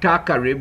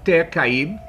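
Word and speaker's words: Tacarib: They call it Ta-Carib, when it's Ter-Caib, meaning Carib land.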